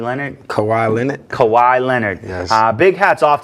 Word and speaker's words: Kawhi: Big round of applause to them, and a big hats off to, I think I always say his name wrong, but Kawhi Leonard? Kawhi Leonard.